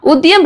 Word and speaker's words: Udyam: அடுத்தது பாத்தீங்கன்னா உத்தியம் registration, UDYAM, இதை உத்தியம்னு ப்ரொனவுன்ஸ் பண்ணலாம்.